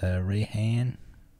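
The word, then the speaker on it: Raihan: The Rayhan. That's how you pronounce it.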